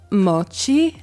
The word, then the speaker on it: moći: I'm American and we cannot for the life of us pronounce the C with the thing on the top. So I'm going to insert my friend pronouncing the word moći.